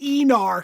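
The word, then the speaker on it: Aenar: Um, so it is spelled Anar, but they pronounce it Enar cuz they're weird.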